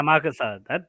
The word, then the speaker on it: Amakusa: Amakusa, Benel, is that how you pronounce it? Yeah, Amakusa.